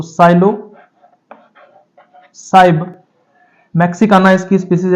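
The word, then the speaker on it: Psilocybe: यहां पे P silent रहता है तो साइलो साइब मेक्सिकाना इसकी स्पीशीज है क्योंकि मेक्सिको से रिलेटेड है यह।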